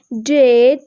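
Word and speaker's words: debt: অ্যান্ড the next rule number 17, vowel এর পর BT এর উচ্চারণ ট হয়, এক্ষেত্রে বি অনুচ্চারিত থাকে। For example ডাউট অ্যান্ড ডেট।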